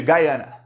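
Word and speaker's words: Guyana: gente aí desse país eles chamam de Gaiana porque eles fala inglês então Guiana ou Guiana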